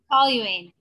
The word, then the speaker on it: toluene: Toluene.